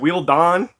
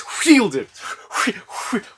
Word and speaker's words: Wheelden: Wheelden, with a hard heel. Yeah, people always ask me how they pronounce my name. They go, "Is it Wheeldon?" Yeah, well, it's Wheelden.